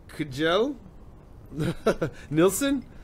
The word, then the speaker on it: Kjell Nilsson: but it's Kjell Nilsson. The K is silent.